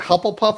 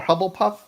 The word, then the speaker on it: Hufflepuff: Hufflepuff or Hubblepuff?